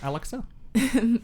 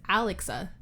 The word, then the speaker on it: Alexa: Turn on them lights, Alexa. Why'd you say her name like that? You said Alexa. Did I? Like Alex. Isn't it technically Alexa? Like Alexis. I know. But with the It's still Alex.